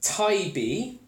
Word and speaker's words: Taybeh: if there is a little story that just pronounced Taibbi or pipe note I Bay in Arabic in